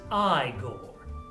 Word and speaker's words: Igor: plays frankenstein scott plays igor scott seifert it's pronounced i gore we have chosen the best possible monster he